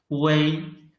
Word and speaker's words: wei: Wei is written as wu, yi. The middle is omitted, but we should still read it wei.